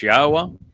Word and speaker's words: Yahweh: the fact that God's name is pronounced as Yahweh and that the uh Torah means teaching, not law.